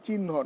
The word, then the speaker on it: চিহ্ন: চিহ্ন, যে চিহ্ন না, চিহ্ন একটু হয়ের মতো উচ্চারণ হবে।